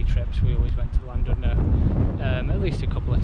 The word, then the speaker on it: Llandudno: But today we are heading from Abergele and Pensawn all the way down to Llandudno, or Llandudno if the Welsh pronounce it that way.